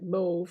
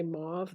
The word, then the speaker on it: mauve: the rhyming except for I've always pronounced it Mo because that is the correct pronunciation most Americans say mauve though H looks like more